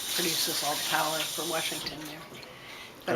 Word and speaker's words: Washington: Did you ever pronounce it Warshington at any point? No, do you? Nope. Warshington? Washington.